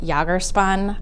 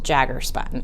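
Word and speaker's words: Jagger Spun: And the raspberry color here is from, I have pronounced it Jagerspun. I've heard it pronounced Jaggerspun. It's Jagger.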